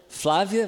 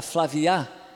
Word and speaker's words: Flávia: vem aquela dificuldade porque a tendência dele vai ser falar tudo acentuando as palavras na última sílaba então meu nome eles vão falar flávia vai ficar flavya melissa vai ficar mellisa